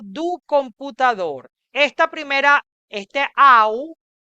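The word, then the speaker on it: ao: Esta primera, este au, esa A con la O se lee au.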